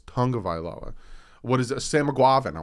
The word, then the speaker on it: Tagovailoa: a tongue of iloa people still call him tagovailoa it's not pronounced tagovilo it's tonga vaila what is a samuguavan